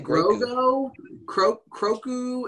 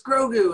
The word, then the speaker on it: Grogu: like you want to say groco and heather kept saying she was like she's like no it's grogu and i was like did he say like grogo because that i felt like they were pronouncing it slightly differently and i was like